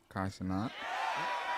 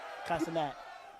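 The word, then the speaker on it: Kai Cenat: Kai Sanat. I said that right? Kai Sanat.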